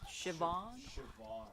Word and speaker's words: Siobhan: Also, the assistant's girl's name was apparently pronounced Siobhan. Siobhan. Just remember, it's kind of like chiffon, but it's Siobhan.